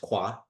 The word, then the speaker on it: Khoa: My middle name is Khoa, pronounced Kwa, and is my last name.